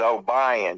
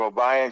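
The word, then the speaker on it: Obion: And it's O-B-I-O-N is O'Brien, because you live in the South. It's pronounced that way.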